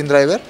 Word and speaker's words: InDriver: Se encuentra como InDriver en español, se pronuncia InDriver.